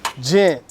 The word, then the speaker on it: Ghent: Gent. Uh, Gent. Gent. Gent. Gent. Gent. Jent. Gent. Gent. Gent. Gent. Gent. The silent H in gent represents our employees.